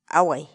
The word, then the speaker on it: away: palabra del día por hoy es agua agua huawei la palabra quechua huawei en español significa tejer